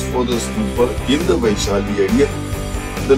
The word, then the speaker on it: Vaishali: he brings the relics to Pidhauli, which is pronounced as Vaishali, And see, these are all photos, photographs of Adharpur.